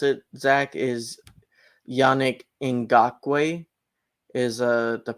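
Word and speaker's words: Yannick Ngakoue: So the way you pronounce it, Zach, is Yannick Ngakwe is the pronunciation.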